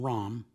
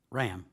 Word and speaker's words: Rahm: Carolyn Rahm. I'm sorry. Ram. I'm sorry, I didn't pronounce it correctly. I meant to say Rahm, but if it's Ram, I'm corrected.